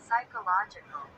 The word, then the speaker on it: psychological: ये फिजियोलॉजी नहीं पढ़ेंगे, इसे आप साइकोलॉजी पढ़ेंगे, Psychological. ठीक है। पी साइलेंट हो जाता है इसमें।